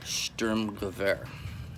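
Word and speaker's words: Sturmgewehr: the storm rifle or Sturm Gewehr I don't speak German but I think it's pronounced similarly to that so the stronger air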